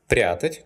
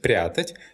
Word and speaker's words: прятать: The infinitive прятать is not stressed on the last syllable. That's why, in the present tense, the stress falls on the stem.